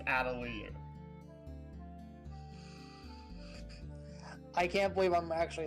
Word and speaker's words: Atelier: No, the actual pronunciation is Atelier.